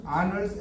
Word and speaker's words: honors: 그다음 상벌상, scholarship, honors and award. scholarship이 장학금이라는 뜻이고요. honors 이게 이제 honors가 원래 영광이라는 뜻이거든요. 영광. honors라고 할 때 H가 발음이 안 돼요.